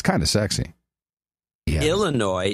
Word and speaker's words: Illinois: it's kind of sexy Illinois is the way it's supposed to be pronounced now I've broken my